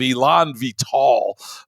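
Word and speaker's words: élan vital: century the concept of Elon vital that's how you pronounce it was still a part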